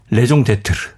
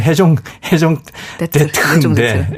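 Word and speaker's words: raison d'être: 레종 데트르. 원래 발음은 해종 데트르인데 레종 데트르.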